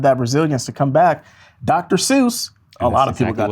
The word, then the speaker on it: Dr. Seuss: Dr. Seuss, a lot of people got that one right. I think actually it's pronounced Dr. Zeus. No, it's not. It's Dr. Seuss.